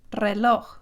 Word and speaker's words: reloj: The letter R, when it starts at the beginning of a word, when the R is the first letter of a word, you actually roll it just like R, the R, reloj.